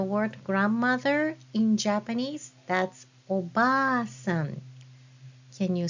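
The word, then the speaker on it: おばあさん: grandmother in Japanese, that's oba-san. Can you spell that word? Oba-san. It should be spelled like this. With double a sound, you use hiragana a after ba.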